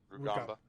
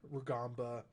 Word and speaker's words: Rugamba: Rugamba. Rugamba, and Keandre Thomas.